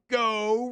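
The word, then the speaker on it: Geaux: uh let's go to go roof for all your roofing needs go is spelled g-e-a-u-x i mean come on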